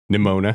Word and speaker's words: Nimona: It's the Nimona. opposite. Or it's not the opposite, but it rhymes with Shimona. That's how I'll always remember it.